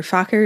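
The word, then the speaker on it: Farquhar: me if you're unfamiliar Faker is spelled f a r q u h a r it's fairly common I'm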